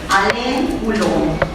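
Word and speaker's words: Alain Coulon: Alen culón. Eh, suena muy gracioso, pero se pronuncia así.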